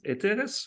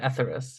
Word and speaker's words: Etheres: How do you pronounce it? For instance, Eteris or Well, Etheris. we say it Etheris, yeah.